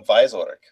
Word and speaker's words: Wieczorek: Wieczorek. Is that how you pronounce it? Any W is pronounced like a V sound. Oh yeah, that's right. Adam Wieczorek. Yeah, just like in German.